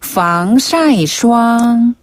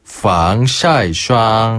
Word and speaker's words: 防晒霜: 선크림은 중국어로 防晒霜. 防晒霜.